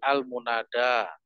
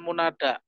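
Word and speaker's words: المنادى: mati hamzahisnya annidau Annida tapi kalau almunada itu tipe maksur ada bengkongnya di belakang Jadi almunada bukan munada pembelajar bahasa arab harus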